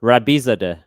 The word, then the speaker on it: Rabizadeh: arguing more of questioning can you tell us the correct pronunciation of your last name oh yeah sure rabisa day that's exactly right i told you i